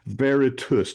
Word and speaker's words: Veritas: And so It's, anything it's, that it's spelled VeritasGroup. And in my brain, I couldn't say it. Veritas, T-U-S.